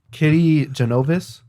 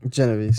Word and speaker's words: Kitty Genovese: Oh, Kitty Genovese. Genovese. Yeah. Genovese.